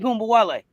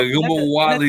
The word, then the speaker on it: Ogunbowale: You was thinking I was putting an extra U in there. I don't know. You were thinking of Arike Ogunbowale. Yeah, Ogunbowale. Yeah, there we go. Yeah, it's an extra syllable.